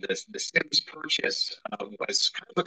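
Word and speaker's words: Symmes: Anna Harrison's maiden name I always wondered if it was Sims or Sims but it is Sims correct yes that's correct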